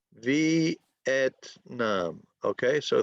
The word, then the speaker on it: Vietnam: Well, we have V, et, nam. So 3 syllables. Yes. Vietnam.